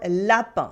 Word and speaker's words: lapin: IN as un for lapin, rabbit.